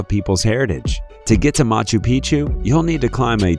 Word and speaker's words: Machu Picchu: machu picchu peru when a place rhymes with picture you can almost bet